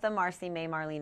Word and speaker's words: Martha Marcy May Marlene: It's Marcy May Marlene.